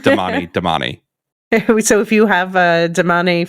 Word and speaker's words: Damane: Yeah, and but by the way, in the audiobooks, they do not pronounce them differently. No. It's just Damani.